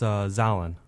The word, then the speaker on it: Xolin: It's Xolin. Xolin, spelled It's Colin, but with an X instead. oh, Yeah.